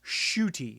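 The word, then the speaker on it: Ncuti: as the 14th doctor shooty is how they describe it from the pronouncing pronouncement i saw shooty close enough s-h-o-o-t-i is the pronunciation guide for it s-h-o-o-t-i shooty okay so i did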